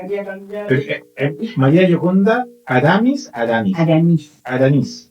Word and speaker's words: Aramís: Aramis. Con el acento en Aramis.